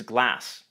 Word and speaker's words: glass: and it means glass. This word has a short A vowel, Glass. and it means ice cream.